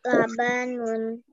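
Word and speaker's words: لَبَنٌ: saya berikutnya Coba dari kata lam badan lulur apabila digabung menjadi apa dibacanya labanun proyek betul labanun berikutnya itu nut apabila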